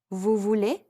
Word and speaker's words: voulez: you want would be vous voulez again notice that the final x and z are silent let's put a phrase